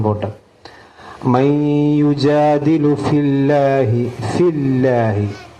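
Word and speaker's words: فِي اللَّهِ: മൻ യുജാദിലു ഫില്ലാഹി, ഫില്ലാഹി അള്ളാഹു എന്ന ഇസ്മു ജലാലിന്റെ മുമ്പിൽ കെസറ് വന്നാൽ അല്ല എന്നാണ് ഉച്ചരിക്കുക. നമുക്കറിയാലോ ബിസ്മില്ല എന്നൊക്കെ പറഞ്ഞു. അപ്പൊ ഫില്ലാഹി എന്ന് ഓതാൻ പാടില്ല, ഫില്ലാഹി.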